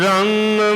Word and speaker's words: ਰੰਗ: हर नामा हर रंग है, इनू गंगा लफ्ज़ है, ध्यान नाल जिस तरह उच्चारण आप जी ने सरवण किया है, इनू रंग गग्गे नाल नहीं पढ़ना, गंगा ही पढ़ना है।